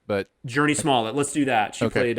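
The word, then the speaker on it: Jurnee Smollett: And then also, I don't know how to pronounce her name. I'm going to say Journey Smollett. She was in Birds of Prey. Yeah. I always thought it was Journey Smollett, but... Journey Smollett, let's do that.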